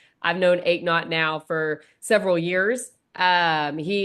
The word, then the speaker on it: Eknauth: So ache not, no pain.